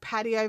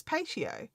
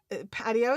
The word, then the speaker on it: patio: Um it's a pagola and and those that say like patio versus pacio. Um patio is correct.